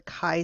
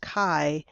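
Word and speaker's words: chi: using something called the kai Square distribution so it's pronounced Kai like kite not like chai T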